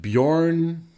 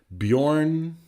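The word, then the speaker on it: Bjørn: It's actually pronounced like Bjorn. All right, sorry, don't have my glasses on. Bjorn Ulver. Bjorn Ulver. Many English speakers get that wrong.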